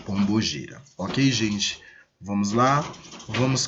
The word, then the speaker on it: Pombagira: Eu vou utilizar a forma de expressão que costumam usar aí comumente, Pombagira, que na verdade nós pronunciamos Pombogira.